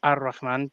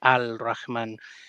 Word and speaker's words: Ar-Rahman: need to say is it should be pronounced Ar-Rahman, but throughout the video, we will probably be saying Al-Rahman so that people understand that we're pronouncing the definite article as opposed to just being a little bit weird. It's not the right Arabic pronunciation, but I don't think